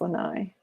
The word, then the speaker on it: Lanai: And now I know how to pronounce Lanai. I have not been saying that one right. You know why I know how to pronounce it?